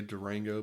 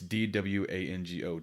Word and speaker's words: Dwango: It's like trying to say Durango, but you... No, it's Dwango, Duango. I know, but it sounds like you're trying to say Duango, but you got like a 2-year-old.